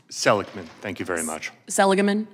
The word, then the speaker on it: Seligman: How is it properly pronounced? Seligman. Thank you very much. Seligman? Seligman.